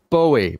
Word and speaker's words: Bowie: the rangefinder world Jay Bowie pronounced B oh oh - EE like the bowie knife just Bowie I from northern yeah